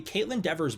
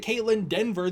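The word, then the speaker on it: Kaitlyn Dever: is going to be Caitlin Dever's brother in the movie. Caitlin Devers is her name. I pronounced it Caitlin Denver the entire last video.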